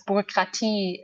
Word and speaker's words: Bürokratie: It's pronounced as Bürokratie in German, and which means a lot of paperwork.